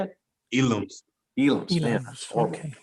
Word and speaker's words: Ealoms: Ealoms.